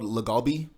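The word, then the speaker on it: LA galbi: Probably they call it's called lagalbi. Lagalbi? Lagalbi is spelled like L-A galbi.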